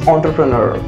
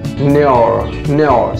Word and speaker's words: entrepreneur: I mean, we can pronounce this word as four different ways. Yes, four different ways. Okay, we will be starting with each segment separately. Entrepreneur. If I pronounce it in a flow, it looks so classy. It's entrepreneur. So this is gonna be the pronunciation number one. Now, second is, so it can be entrepreneur, like this way, entrepreneur segment. So the last segment can also be pronounced as neur.